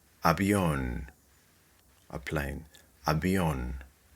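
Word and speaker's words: avión: Habion, a plane. Habion. Clearly, the accent here is on the last syllable, on.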